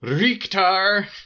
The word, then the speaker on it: Richter: this castle nerds but how do you say that dudes name is it Richter or Richard uh according to the voiceovers in the game it's wreaked are according to Maria leaked are so this all opens